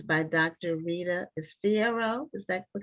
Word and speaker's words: Fierro: Rita Fierro. Is that the correct pronunciation?